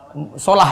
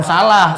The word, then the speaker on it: Salah: Bukan salah, solah kalau bacanya. Solah. Ikut-ikut berita lagi bacanya salah itu. Solah. Muhammad Solah itu berbendul namanya. Kok salah? Muhammad Solah. Bacanya itu Muhammad Solah kalau bahasa Arabnya, bukan Muhammad Salah.